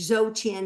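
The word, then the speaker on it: Dzogchen: But what it is is called a three-stage zochin meditation practice. And zochin means d is spelled dz o g c hen.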